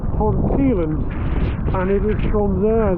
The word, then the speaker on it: Ponteland: heading to a place often mispronounced haunty life which is actually really called ponteland and it is from